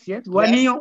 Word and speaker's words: Wanignon: Donc, il est gérant de société de sécurité, PDG de la société Wanignon Group, j'ai bien prononcé, c'est ça? Yes. Wanignon.